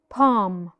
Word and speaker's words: palm: the L is silent another example palm palm tree we do not pronounce the letter L Palmer three vowels now